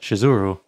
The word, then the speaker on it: Shizuru: And why did none of them warn me that the name of the goddess is actually spelled and pronounced Shizuru?